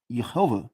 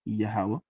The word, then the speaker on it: Yahweh: This is that looks like it's pronounced Jehovah. We all know it's Yahweh, right?